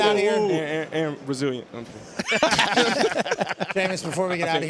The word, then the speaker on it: Jameis: Jameis rhymes with the lamest, too.